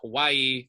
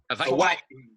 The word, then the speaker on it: Hawaii: In the actual pronunciation of the state of Hawaii, it would be Hawaii. Yeah, Hawaii. Yeah, exactly. So that's another example of a glottal stop.